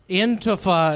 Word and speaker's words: Antifa: Antifa is how it's pronounced.